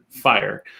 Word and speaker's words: FHIR: thing you have to know is how to pronounce it fire um but what fire is is really just